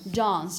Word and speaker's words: dance: long pass sound okay in British English you do have a distinction it's very clear and you use it in words such as how would you pronounce this one with a long our sound dance you have to pretend